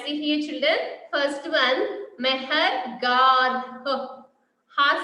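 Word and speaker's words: Mehrgarh: And here, first one, Mehergarh. Meher, you just try to pronounce, children. Meher, M-E-H-R, Meher, Garh, G-A-R-H. Not the t.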